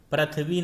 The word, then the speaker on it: पृथ्वी: जैसे एक शब्द पृथ्वी, तो पा में जब री लगती है तो उच्चारण उसका शुद्ध रहता है और लेखन भी शुद्ध रहता है। पृथ्वी नहीं कह सकते हम, उसका उच्चारण पृथ्वी ही होगा।